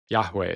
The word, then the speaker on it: Yahweh: it was pronounced, but Yahweh is the way that modern scholars have hypothesized it would have been pronounced.